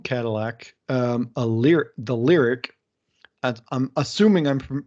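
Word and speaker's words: Lyriq: announced a new cadillac um a lyr the lyric i'm assuming i'm pronouncing that correct it's l y o r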